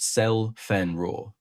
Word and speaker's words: Zielfernrohr: Zielfernrohr 41 in German, pronounced Zell-Fernrohr.